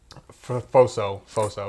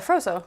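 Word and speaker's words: Phroso: So then there's Pharaoh, who's the clown, and we think that Pharaoh's Foso. It's Froso. Yeah, Yeah. I keep saying his name wrong.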